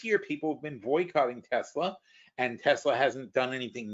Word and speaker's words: Tesla: It was Tesla. It's pronounced Tesla. It was never pronounced Tesla. Tesla is an incorrect pronunciation.